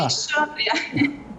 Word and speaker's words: Alexandria: Alexandria, eu acho que essa é a pronúncia correta. Para começar... Alexandria.